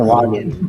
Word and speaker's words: sahuagin: It's being brought to their attention to the Shangwin. I believe that's how you pronounce it. Which they're like, oh. Are those They're kind of, yeah. I've heard Sahuagin. I don't know if that's correct. Sahuagin, yes.